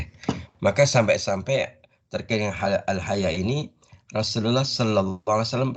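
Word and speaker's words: الحياء: Akan melahirkan al-haya. Al-haya, ya, bukan al-haya. Pakai hamzah ya, bukan ha atau ha, tapi hamzah.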